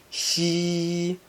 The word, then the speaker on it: 象: She is a bit like a ship, but you need to pull the corners of your mouth straight back to pronounce it. Xi.